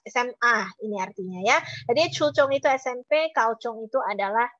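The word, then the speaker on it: 初中: Satu bacanya adalah chuchong, satu lagi bacanya adalah kauchong ya.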